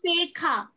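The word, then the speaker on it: ceja: La sekha. Sekha. So J is, we'll also do this alphabets. J is pronounced as kh, KH. Kh in Spanish.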